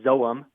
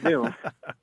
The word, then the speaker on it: Zoom: You don't say zoum. Right. You say Zoom.